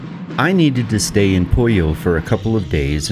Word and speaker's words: Puyo: This right here is the little town of Fatima, and that over there is the town of Puyo, or Puyo, P-U-Y-O. Technically it's pronounced Puyo, which is chicken.